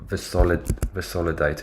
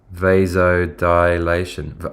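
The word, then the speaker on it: vasodilation: I get the pronunciation wrong. It's not visolidator. It's like vas vasil. What is it? Vidation. How do you pronounce it? Dude, my eyes are watering. Oh, it is. Yeah. V vasod dilation.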